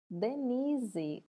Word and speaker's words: Denise: Denise. Denise. Repete aí na sua casa. Qual é que a gente pronuncia com mais entonação? Aqui, o ni. Ele está elevado.